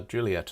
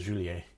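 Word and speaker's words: Juliett: recently is that uh Juliet in the international call sign alphabet is actually spelled with two T's it's spelled Juliet so that French speakers don't pronounce it as julier which I thought was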